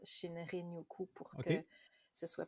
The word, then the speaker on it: Shinrin-yoku: C'est sûr qu'à la japonaise, il y a un petit dring-dring, Shinrin-yoku. OK, Mais oh, moi, je le prononce Shinrin-yoku pour OK.